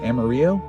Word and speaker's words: Amarillo: next stop is a Amarillo Amarillo Amaro Amaro that's how you say it in Texas and then uh Oklahoma